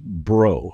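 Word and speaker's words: Breaux: And as any good Cajun would know, it is pronounced bro, like B-R-O.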